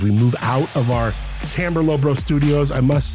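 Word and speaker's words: Timbre: Yes, it's pronounced Timber.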